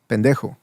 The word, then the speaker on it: pendejo: Pendejo. And actually, not even ho, because ho is more of a pronounced O.